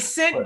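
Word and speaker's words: Cint: And St. is spelled C-I-N-T. G-I-L-S-T-R-A-P. And it's important because, you know. Yeah, because a lot of people call me Clint.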